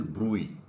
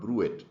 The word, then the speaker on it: bruit: This is called bruit, not bruit. So this is called bruit. T is silent, and this is abnormal sound coming from the vessel.